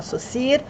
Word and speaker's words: Saussure: é mestre da linguística se chama socir ele fez inúmeros estudos e inclusive é dele a diferenciação entre língua e linguagem social muito muito cheio de pronúncias tá e se escreve saussure procurem aí saussure um